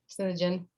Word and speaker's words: Synergen: So synergy at the edge, Synergen is how you say that.